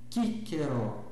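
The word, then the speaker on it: Cicero: Ah, o C, como acabamos de ver, sempre cultural, sempre como em casa. Então, cantat kellus kentum, né? boca fechada pronunci o M é bem pronunciado. Então, kentum, kentum, kíkeró, kíkeró, a letra D, que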